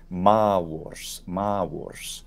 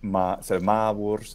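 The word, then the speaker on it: Mavors: never had that one I know that woe gets uh taken out uh so just ma Wars it also demonstrates how the V was a was sound yes at least in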